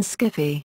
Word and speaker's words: skiffy: around 1978, Susan Wood and others introduced the pronunciation skiffy.